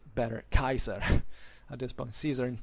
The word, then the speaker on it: Caesar: even when caesar and tarquitos or say better kaiser at this point caesar and tacitus let's say better talk in ecclesiastical pronunciation but their real names were kaiser and